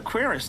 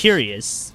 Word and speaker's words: cuirass: I just took the cuirass, that's all. I promise. So that's how you pronounce it. I don't know anything I thought it was else. curious, but...